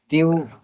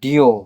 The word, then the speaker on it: Diu: Which is not Creole, but you call it Diu and not Dio because it's very easy to uh to get it uh mispronounced as Dio Indo-Pro you know like like Duo.